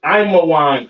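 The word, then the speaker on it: עמון: Ammon, all right, Ammon, which is Imawan in the Hebrew.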